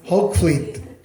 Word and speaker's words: Hoogvliet: बड़ी खुशी हुई दोबारा Hoogvliet, am I pronounce it correctly? Yes. कैसे कोई मुझे बताओ डच वाले? Hoogvliet.